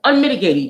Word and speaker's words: unmitigated: Okay, and when you see those dots in between the words, it's signifying how many syllables it is. Because when the syllables are basically sounds. So you would go unmitigated, unmitigated, and then the last part of the word id. So you're going with the sounds. So basically, let's count them out how many syllables this is. 1, 2, 3, 4. So it's like 4 syllables.